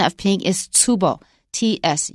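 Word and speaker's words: 坪: word ping comes from Japanese and the Japanese pronunciation of ping is tubo TS u b o tubo so if you want to avoid Chinese you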